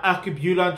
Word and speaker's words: Alkebulan: You pronounce the Alkebulan Trust exactly how I just pronounced it, but we're gonna break it down.